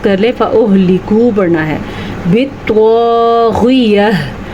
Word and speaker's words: بِالطَّاغِيَةِ: فَأُهْلِكُ پڑھنا ہے۔ بِالطَّاغِيَةِ، تو کو پر پڑھنا ہے، غین کے تلفظ کا دھیان رکھنا ہے اور یا کے بعد ہا کی آواز بھی آنی چاہیے۔ بعض لوگ وقف کرتے ہوئے پتہ ہے کیا کرتے ہیں، بالطاغیہ، جناب ہا کدھر چلی گئی؟